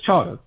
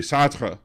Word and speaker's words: Chartres: That's Chartres. That's Chartres, but it should be Chartres because it's French. It should be Chartres. I'm sorry. Say that again. Chartres. That's the French pronunciation of it.